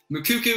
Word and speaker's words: Moukoko: correctly i have uh i've seen a few different pronunciations but we're gonna roll out the video with mukuku is the way i'm gonna go with it so tell me what